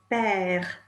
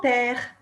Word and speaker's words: père: Mon père. Mon père. Il s'appelle Pierre. Did you notice that mère, mother, mère, and père, father, père, both rhyme with frère, for brother?